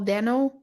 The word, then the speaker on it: Dano: um, Shailene Woodley, Paul Dano. I don't know how to pronounce Yes. his last name. It's Dano?